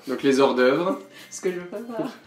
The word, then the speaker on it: hors d'œuvre: Prononcé en anglais comme Hors d'œuvre. hors d'œuvre. Hors d'œuvre. Hors d'œuvre. Ou en fait, si c'est au pluriel, c'est hors d'œuvres. Donc voilà, très américain.